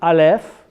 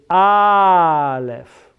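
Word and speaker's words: אלף: So the fourth bullet, most Hebrew words have the accent on the last syllable. So it is not aleph, it is aleph, lamed.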